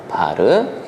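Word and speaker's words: var: 무효전력의 경우에는 PR이라 쓰고 얘는 VI의 사인 세타라고 하고 바르라고 읽었습니다. 바르.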